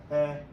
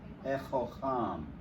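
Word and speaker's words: הֶחָכָם: You know what, Yepsika, I mispronounced it. I said the wisdom, but this is the wise person. He-chocham. He-chocham.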